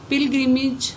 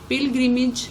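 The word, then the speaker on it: pilgrimage: पिलग्रिमेज हज, पिलग्रिमेज हज। यहाँ AGE जो है उसको आपने IG प्रोनाउंस करना है, एज।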